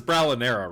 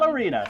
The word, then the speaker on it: Bralinera: Her name is Bralinera, Ryan. God damn it. I thought Ballerina. it was ballerina. It is Ballerina. No, it is. It's no, it's Bralinera Bralinera. is how you say her name.